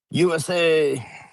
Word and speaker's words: Usa: USA So, there is a town I I hope that we're pronouncing it right. it's it's Usa. We looked it up, but it was still funny.